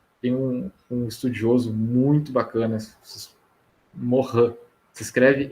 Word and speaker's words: Morin: Tem um estudioso muito bacana, Morin, se escreve M-O-R-I-N, Morin.